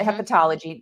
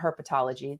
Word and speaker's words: hepatology: Hepatology hepatology, not herpetology. That's the reptiles. Hepatology. Pronunciation matters.